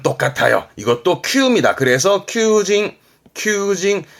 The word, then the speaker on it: 求人: 발음 똑같아요. 이것도 큐입니다. 그래서 큐징 늘 말씀드리지만 우리말로 한자 읽히면 발음은 거의 같다. 그렇게 하는 거지요. 그래서 구인은 큐징.